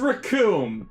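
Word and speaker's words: Recoome: no way oh dear the name's raccoon it rhymes with doom and you're going to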